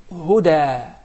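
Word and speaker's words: هدى: We write it even as a ya, such as the word huda. Huda. We write it as ya, but we pronounce it as alif.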